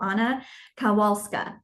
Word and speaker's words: Anna Kowalska: I'm your host and intuitive business consultant, Megan Camille, and it is my pleasure to introduce you to Anna Kowalska. Welcome, Anna. Thank you, Megan. You pronounced my name so well.